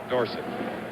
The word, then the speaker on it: Dorsett: of Myrtle and Wes Dorset recently Tony says we should pronounce his name Dorset however too many people know it the other way Christian hard time to